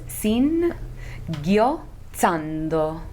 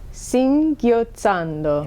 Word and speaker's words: singhiozzando: How do you pronounce that again? Yeah, it's a hard one. So it's Singhiozzando. Singhiozzando.